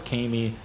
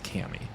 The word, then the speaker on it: Kami: Yeah, in the show it's Kami, but obviously, like, reading it, you would read it as Cammy.